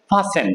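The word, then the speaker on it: fasten: ফাস্ট না এটা হবে ফাসেন টি উচ্চারণটা হবে না ফাসেন কি হবে এই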